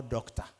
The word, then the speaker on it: doctor: They are all doctor. Doctor. Whether it is O-R-E-R, is pronounced as doctor.